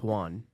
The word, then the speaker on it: Juan: It's Juan.